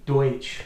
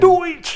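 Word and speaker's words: Deutch: Madison, played by Zoe Deutsch, I think is how you say it. Deutsch, yeah.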